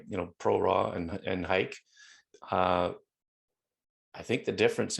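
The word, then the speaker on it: HEIC: you're shooting jpeg or hike and i'm sticking with the height pronunciation by the way i don't care what apple says apple pronounced it heat i'm saying hike let's make hike happen everyone um if you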